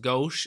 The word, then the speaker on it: Gauche: these names thank you whoever said it's it's pronounced gauche and niege appreciate that let me know how